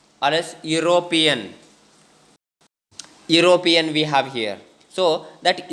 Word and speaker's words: Europe: In the same way, Europe, that also starts with consonant sound, even though there is vowel in the beginning of that word, right?